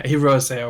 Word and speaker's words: Hirose: It's not high-res, Jay. It's a Japanese word. Oh, yeah, Hirose.